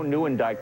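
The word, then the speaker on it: Nieuwendyk: McInley, the actor, but it's actually Joe Newandike, the hockey player.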